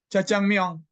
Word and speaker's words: 자장면: Jajangmyeon gitu. Gimana bacanya? 자장면 benar Ustaz. Jajangmyeon.